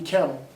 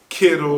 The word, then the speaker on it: Kittle: Because our tight ends, they might not be Kettle, but at the same time, did I say his name right? Kittle.